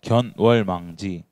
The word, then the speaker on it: 견월망지: 요즘 한자 배우는지 잘 모르겠는데 한자 이거를 뭐라고 읽냐면 견월망지라고 합니다.